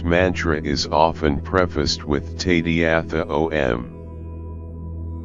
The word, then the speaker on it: Tadyatha: When chanted in Tibetan monasteries and Dharma centers, this mantra is often prefaced with Tadyatha Om. Tadyatha, often pronounced Tayata by Tibetans, means it is like this.